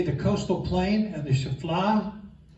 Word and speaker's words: Shephelah: Okay, the coastal plain and the Shephelah. Some people pronounce it Shephelah. I've heard it pronounced different ways. Is here along the sea coast. Any of you familiar with the story of David and Goliath? Shephelah.